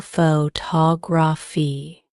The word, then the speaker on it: photography: The stress is on the second syllable photography.